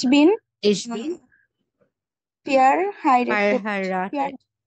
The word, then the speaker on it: verheiratet: ইয়া হুম, ইয়া ইয়া ইস বিন ich bin pair হাইরেটেড verheiratet, হ্যাঁ এটা fair বলবে না, ফার বলবে না, যেহেতু এ আর একসাথে আছে আমরা আর মতো উচ্চারণ করি না।